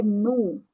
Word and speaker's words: no: Now é nu. Tá? Temos uma O no final, então vai ser a pronúncia como uma U, nu, no Brasil, tá?